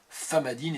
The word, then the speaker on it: Famadihana: Ça s'écrit Famadiana, mais ça se dit Famadine, et c'est le rituel du retournement des morts.